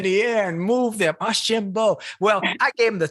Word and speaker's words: Archambeau: Archambeau.